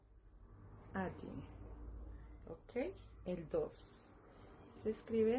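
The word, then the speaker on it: один: El uno se escribe el uno se escribe así, pero se pronuncia adin. Se pronuncia adin.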